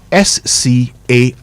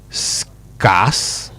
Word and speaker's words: scarce: S-C-A-R-C-E. Any takers? Did you say scarce? Well, I know many people say that. It's actually scarce. Scarce, not scarce.